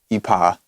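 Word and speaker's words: Yppah: This is a artist who goes by, I pronounce it Ipa. It's Happy backwards.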